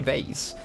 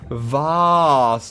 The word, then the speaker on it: vase: A fancy vase. A wonderful item. It's pronounced vase, not vase.